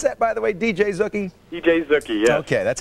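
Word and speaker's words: DJ Zooky: that by the way DJ zookie DJ Zuki yeah okay that's how I pronounce it like Boogie with a z hey have a great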